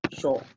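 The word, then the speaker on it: 署: Và nó sẽ đọc là sổ, không có trường âm nhé. Sho không có trường âm.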